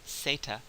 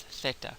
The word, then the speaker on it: zeta: phon in fact the the letter in the alphabet is pronounced as SATA uh or if you're from Spain as Theta so there's no there's